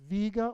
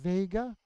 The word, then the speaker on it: Vega: Oh, the star is Vega or Vega, V-E-G-A. There was an automobile called the Vega for a while, a long time ago, but you can pronounce it either way.